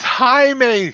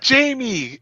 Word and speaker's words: Jaime: At the first 2 or 3 episodes, I kept saying, I was like, it's Jaime, not Jamie.